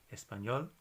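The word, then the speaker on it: español: part of the word is on the end espanol bailar which means to dance so it's ended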